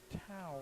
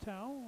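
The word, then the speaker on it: Teu: Now the PA announcer pronounced the last name Tau on the ball carrier on 38. T-E-U. So we'll go with Tau.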